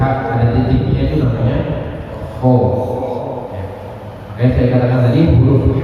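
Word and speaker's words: ح: Kalau kita mengucapnya ho, jangan berlebihan, jangan kebanyakan. Jangan mengucapnya ho, wah itu kebanyakan. Sedikit saja Pak, ho. Yang penting ada suara itunya, ho, ho. Sedikit saja, ya, jangan kebanyakan seperti tadi. Jangan ho. Nah, itu yang dengar aja udah. Ini orang mengucapkan ho atau membuang darah. Sedikit saja, ho, i, hu, seperti itu.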